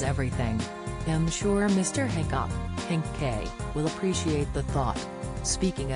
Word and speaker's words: Hancock: She told her 276,000 followers that the Han part of his surname is silent when pronouncing it. The former Countdown star explained, apparently, to say his name properly, the Han is silent. Who knew? Matt CK.